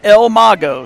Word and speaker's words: el mago: that's a good one ah I said it wrong el mago equals the magician pronounced el mago so thank you for